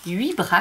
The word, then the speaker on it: Wibra: Alors, celles-ci, elles viennent de chez Wibra, comme on dit chez nous. Ça s'écrit W-I-B-R-A.